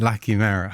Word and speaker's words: La Chimera: But because this is Italian, this is a hard C?